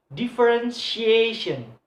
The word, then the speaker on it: differentiation: So the stress in the word placed on the second syllable from the last one. So differentiation.